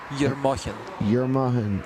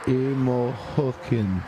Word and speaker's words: Yermokhin: It says E-R-M-O-K-H-I-N. Yes. Yermokhin. Or maybe I need to pronounce. Oh, it's K in it. Yermokhin. It's like H. Yermokhin. Hin. Yeah. You know, it sounds like German a bit.